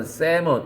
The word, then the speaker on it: salmon: 강물을 거슬러 뛰어 올라가는 salmon 이거 왜 쓴 거예요? L이 묵음이구나.